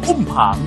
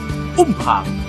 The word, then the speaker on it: อุ้มผาง: สุด ใน ประเทศ ไทย อุ้ม ผาง มา จาก คำ ว่า อุ พะ ที่ เป็น คำ เรียก กระบอก ไม้ ไผ่ สำหรับ เก็บ เอกสาร เดิน ทาง ใน ภาษา ปากกา กยอ ซึ่ง ต่อ มา ได้ ออก เสียง เพี้ยน มา เป็น อุ้ม พาง จึง ได้ กลาย มา